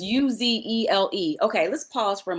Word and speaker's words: Uzele: It's Uzele.